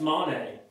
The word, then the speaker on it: Monet: No, it's Monet. It's Monet. That's how you say it.